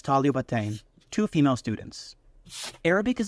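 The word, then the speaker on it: طالبتين: If you want to say two female students, we take the word for student, talib, add tan marbuta to make it feminine, which gives us taliba, and then we add our dual ending of ain, which finally is pronounced as talibatain, two female students.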